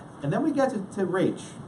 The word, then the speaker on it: Raich: And it's pronounced Raich. Not Raich, but Raich, like R-A, Raich, okay?